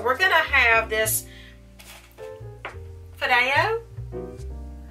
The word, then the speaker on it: Fideo: So we're going to have this Fideo. Sounds like I'm, I don't know. How do you pronounce F-I-D-E-O?